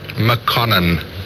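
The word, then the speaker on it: Makonnen: Mokonene. Spell it.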